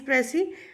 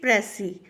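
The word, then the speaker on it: précis: Why it is Pressy? Because S is silent here. Precis, it is a French word. That is why it is Pressy.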